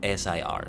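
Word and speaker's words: Ser: get used to like knights being called Sir, like S-E-R, not S-I-R. It's the same pronunciation basically, but Sir.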